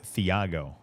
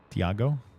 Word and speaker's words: Thiago: It's like, you know, James is Theiago. What the? Wait, I'm assuming in Portuguese you don't pronounce the a like that, right? Thiago, which is a mind to me.